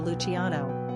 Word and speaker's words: Lucian: may want to consider Luciano as in Pavarotti quick facts on Lucian gender boy origin English number of syllables two ranking popularity 631 pronunciation l-o-s-h-n simple meaning light shining